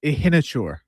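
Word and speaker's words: Iheanachor: How do I pronounce the name of the offensive tackle that Pittsburgh took? Max? Yeah, Ihinachur.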